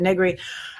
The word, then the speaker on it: Negri: to say with it negri and i want to say rhymes with nothing rhymes with nothing i've smoked my whole life and and for a while i was able to say begley because ed begley was an actor and now he's an activist but young younger people don't know who ed begley is so it rhymes with somebody begley and that means nothing